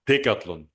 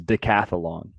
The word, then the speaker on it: Decathlon: Europe we have the same but it's called dlon but when I told it to the guys of ECE they heard something else but uh who knows yeah the name of the store he's pronouncing is De cathlon decathlon decathlon dlon the cathlon okay you first